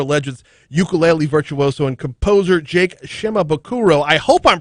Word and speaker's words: Jake Shimabukuro: many many other legends ukulele virtuoso and composer jake shimabukuro i hope i'm pronouncing that right okay i do nailed it